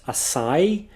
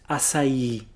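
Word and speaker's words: açaí: there to tell you that that's the strongest syllable that's where you're gonna put the emphasis so it's not a sigh but acai acai so now you know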